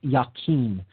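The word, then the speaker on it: Jachin: as the pillar of jockeying or sometimes pronounced yakin that's j-a-c-h-i-n and it leads to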